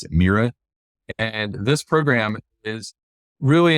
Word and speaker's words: MIRA: So NIGMS has this program called Maximizing Investigators Research Awards, MIRA, and they pronounce it MIRA.